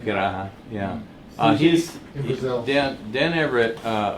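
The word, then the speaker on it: Pirahã: Yeah, linguist in Piraha, or how do you Exactly, pronounce it? Piraha, yeah.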